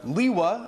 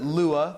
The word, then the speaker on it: Lewa: bionicle review week today we have Li hua a lot of people pronounce at Lua but I'm gonna be saying li hua during this review he's set number 85